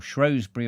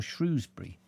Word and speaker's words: Shrewsbury: It's not Shrewsbury. All the idiots in Shrewsbury have a go at me because I say Shrewsbury. And actually, I know that Shrewsbury is the correct way of saying it because I know an old family who lived in Shrewsbury for generations. And it's got nothing to do with shrews, but they're not shrewd enough to know.